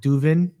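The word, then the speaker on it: Duvin: they did with um this apparel brand called Duven.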